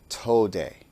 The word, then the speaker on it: Tode: systems and called it Tode. It has been spelled phonetically many different ways to approximate the pronunciation. For this lesson, I will spell it T-O for toe and D-E for day.